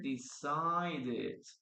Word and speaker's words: decided: It is very curious that in this case we pronounce the last sentence, the last E, the last letter right there, huh? The last vowel.